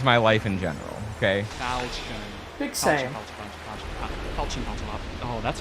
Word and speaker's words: Falchion: And we're using the Falchion pronunciation Falchion. for this one. Falchion. Not Falchion. It's Falchion.